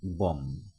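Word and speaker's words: bomb: বম, বের উচ্চারণ হচ্ছে না।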